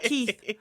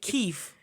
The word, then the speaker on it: Keef: First of all, his name is Keef. Keef. Keef. And when I saw that, I was like, why would they do that? Not Keith. Keef.